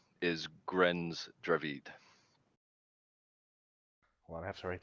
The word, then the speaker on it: Dravid: d a d i i just call it dravid i just say i i just pronounce it dravid you know drive head right you have a speech